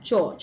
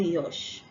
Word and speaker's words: George: And we have George and not Yosh.